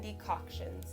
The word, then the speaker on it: decoction: will be infusions and decoctions now i don't think i'm pronouncing decoctions right so let us see decoction okay so i am pronouncing it right all right infusions are